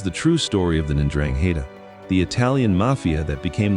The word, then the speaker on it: 'Ndrangheta: The 'Ndrangheta, pronounced Ndrangheta, originated in the poverty-stricken region of Calabria in southern Italy during the late 19th century.